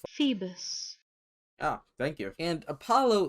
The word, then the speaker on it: Phoebus: Phobius? Phoebus. Ah, thank you. And Apollo is pronounced Ape-al-O.